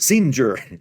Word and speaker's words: Singer: And the lady said, "Singer, singer, that's in in Italian G's are always pronounced soft like a J anytime there's an E or an I following them.